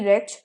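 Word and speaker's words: wretch: the smell made me रेच ठीक है smell से मुझे उल्टी आने लगी डब्ल्यू आरई टी सी एच रेच जिसमें डब्लू साइलेंट और डब्लू से ये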